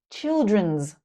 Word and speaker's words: children: Child, children, not children's. And notice the difference in the I sound. Child, children. They are different. Chai like hi, and chill like hill.